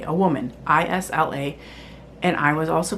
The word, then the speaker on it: Isla: another character in the book whose name is I S L A, a woman. I S L A. And I was also pronouncing her name Isla.